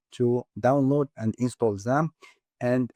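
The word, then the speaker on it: XAMPP: Uh the it's called ZAMP. Uh it's X amP. It starts with an X but is pronounced ZAMP.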